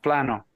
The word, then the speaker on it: Plano: it's not all that Plano Texas and in Spanish is pronounced Plano I can't tell you how many softball games I've played in Plano right right I'm uh